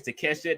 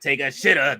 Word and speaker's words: Takeshita: Fletcher says Takeshita not take a shitter.